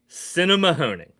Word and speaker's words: Sinnemahoning: So, this is pronounced Sinnemahoning, okay?